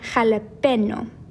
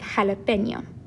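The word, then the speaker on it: jalapeño: so if it weren't if we didn't have this marker above jalapeno it would sound like jalapeno instead of jalapeno so hopefully you can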